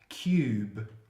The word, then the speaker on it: cube: end of the words we now have cube which means the U becomes a long vowel and E is silent so it's a cut